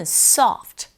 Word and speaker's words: soft: 정확한 발음은 soft. 푸트가 굉장히 빨리 입에 이 위치가 변화가 되죠. 그래서 소프트 하지 마시고 soft 긁어주시고 and는 접속사니까 이 정도.